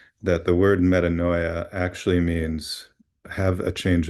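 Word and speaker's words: metanoia: Uh but essentially what it's pronounced as is metaninoia.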